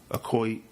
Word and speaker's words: Okoye: We have Diana Guerrera as Okoye is how it's pronounced.